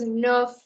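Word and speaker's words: neuf: As I told you yesterday, the last C, R, F, and L are almost always pronounced, right? So this is nerf, nerf.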